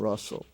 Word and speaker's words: rustle: the la sound hustle that's an exception hustle bustle and rustle in those words the t is silent bustle a hustle bustle and russell so write these words